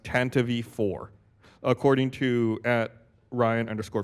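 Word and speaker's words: Tantive IV: an official Star Wars material that it is pronounced Tantivy for according to at Ryan underscore freeze on Twitter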